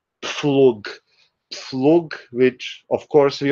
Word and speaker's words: Pflug: So it's again like in the first one, pf. Yes, yes, it's pf, and that's actually pflug.